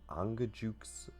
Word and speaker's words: Angajuk: the only way to get there is an angajuk if I'm saying that.